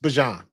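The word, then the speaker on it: Bijan: His name is pronounced Bjan.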